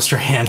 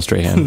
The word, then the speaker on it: Strahan: shows that make sense michael strahan it's not michael strand it's only michael strahan no it's just him